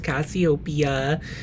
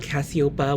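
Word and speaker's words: Cassiopeia: here and say that I'm pretty sure it's Cassiopia and not Cassiopa, which is what I was saying in the video.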